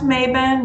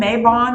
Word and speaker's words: Mabon: uh also known as maben mabon may bone depends on where you're from and how you like to pronounce it i do pronounce it maven when i use it